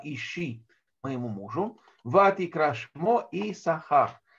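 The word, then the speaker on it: יִשָּׂשכָר: моему мужу, вати крашмо и сахар. И назвала имя его Исахар. Исахар происходит от слова сахар, но традиционно пишется вот здесь нечитаемая буква син.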